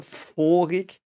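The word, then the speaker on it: vorig: so it so the the V is is pronounced here foric um I think there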